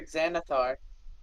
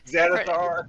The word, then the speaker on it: Xanathar: One's spelled with an X and one's spelled with a Z, but they start off the same. They sound the same, yeah.